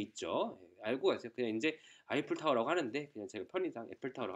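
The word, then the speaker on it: Eiffel Tower: 때문에 이걸 또 이제 에펠타워라고 하면 또 이제 없어 보이고 해서 그런데 이거 원래 사실은 이거 아이플타워라고 읽는 겁니다.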